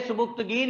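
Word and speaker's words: Sabuktigin: जी, बोलेंगे सुबुक्तगीन, लिखेंगे सुबिक्तिगिन, याद रख लें स्पेलिंग के लिए इसके, सुबिक्तिगिन।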